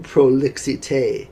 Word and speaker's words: prolixité: And in other words, he says, let me quote, he's going to eschew prolixité. They still say it like the French.